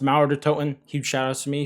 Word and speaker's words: Mauer der Toten: But either way, it is going to be pronounced Mauer Der Toten.